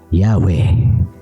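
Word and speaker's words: Yahweh: Yahwe, pinakamaaaring tama ayon sa karamihan ng biblical scholars. Batay sa mga sinaunang dokumento, Early Church fathers at grammar ng ancient Hebrew. Madalas natanggap ng scholars bilang pinakamalapit sa orihinal na pronunciation.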